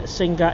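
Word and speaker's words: Singha: Ben, Singa is actually pronounced Sing.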